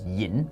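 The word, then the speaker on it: 飲: But those characters, se and yam, and in Mandarin they're pronounced shi and yin, they still retain their original meanings in Mandarin, and they're now just more formal ways of saying eat and drink.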